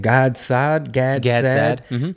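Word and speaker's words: Gad Saad: Gadsad.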